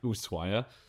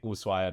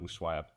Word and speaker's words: Ushuaia: it is in fact Ushuaia, which makes sense. In the case of things like helado, you don't actually say the H, you just say helado, which would make Ushuaia, not Ushuaia.